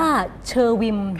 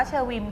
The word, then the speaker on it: เณอวิม: มาก เลย อ่าน ว่า เชอร์วิน อ่าน ว่า เชอร์วิน ค่ะ แปล ว่า ต้น ไม้